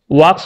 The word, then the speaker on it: walk: তার জন্য এখানে কিন্তু ওয়াক্স হবে না, এখানে হবে ওয়াক, WALK। উচ্চারণটা কিন্তু ওয়াল্ক বলবা না, ওয়াক বলবা। ওয়াক মানে হচ্ছে হাঁটা, আমরা প্রতিদিন হেঁটে হেঁটে বিদ্যালয়ে যাই, ঠিক আছে।